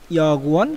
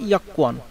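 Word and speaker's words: 여권: এখন আসেন ইয়াকুয়ান, এই উচ্চারণটা আপনার আমাদের এখানে আছে ইয়াগুয়ান, কিন্তু কোরিয়ানরা মূলত উচ্চারণ করে ইয়াকুয়ান, তাই আমাদেরকেও এটা উচ্চারণ করতে হবে ইয়াকুয়ান।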